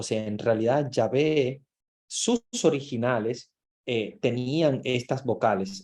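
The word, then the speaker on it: Yahweh: es como la respiración Ellos dicen Ya ve es como pero como ellos no pueden pronunciarlo Ellos dicen es como la respiración porque las consonantes de ellos es como si estuviéramos respirando o sea es como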